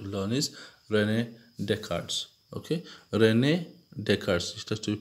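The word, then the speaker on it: René Descartes: Okay, Rene Descartes. It has to be pronounced in that way.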